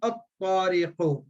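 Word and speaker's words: الطريق: Likewise, if I say tariqun, but if alif lam, at-tariqu, lam is silent.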